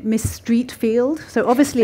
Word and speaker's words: Streatfeild: and and she answered the phone saying Miss Streatfeild so obviously it's pronounced Streatfeild because she would know wouldn't she and and